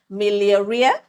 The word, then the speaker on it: miliaria: Another common one, more in warm climates like Nigeria, is the heat rash, otherwise called, I'm going to pronounce this right, miliaria.